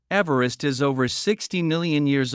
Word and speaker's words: Everest: Sir George Everest, and therefore should be pronounced Everest, not Everest. As per the pronunciation of the British surveyor's surname, Everest was originally named